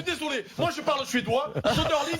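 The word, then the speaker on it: Söderling: Soderling, ça se prononce Soderlund.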